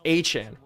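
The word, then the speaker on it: Etienne: He literally, Travis Achan came out in an interview. Did anybody else see this? He came out in an interview and was like, hey, my last name's actually pronounced Achan.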